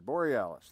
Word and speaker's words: Borealis: Borealis. Okay, Borealis. Like Aurora Borealis?